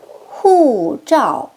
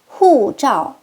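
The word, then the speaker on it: 护照: 여권입니다. 사성인데요. 높은 데서 뚝, 높은 데서 뚝 두 번 연달아 합니다. 여권, 후자오, 후자오.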